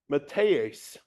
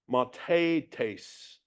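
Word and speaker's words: μαθητής: The Greek word for disciple is matheis. G3101. I said that wrong. Mathetes. Mathetes. Sorry for butchering the pronunciation.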